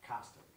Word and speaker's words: Costic: How do you pronounce your last name? Costic. Costic. What is it? Costic. Costic, okay. Costic. I thought, I just wanted to show. I like Mr. Colisti, but I like Mr. Costic. Sorry. Okay. It's a tricky word. Get us on our toes. Caustic drug. That's okay, mine's hard to pronounce too, really, sometimes.